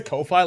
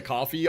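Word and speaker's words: Ko-fi: I thought it's pronounced coffee. I think that's the point. But if I just say coffee, it's going to be confusing. So, I say Kofi like loi like whatever. It probably is pronounced coffee because that was the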